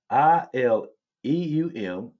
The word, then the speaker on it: ileum: So homonyms are words that pronounce the same way but have different meanings. An example, ilium. You got ilium and ilium, like you got ILEUM, and then you've got ILIUM.